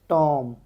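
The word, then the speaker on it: tomb: जा रही है ना टॉम यहां पे जो हैसे बी की आवाज नहीं निकलती अपन टोम बोलते हैं अपन सो बी साइलेंट हो गया वेनसडे वेनसडे बोलते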